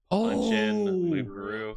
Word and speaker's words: loup-garou: Keep putting like T's and R's and things where they don't need to be. It's Loup-garou. It's French.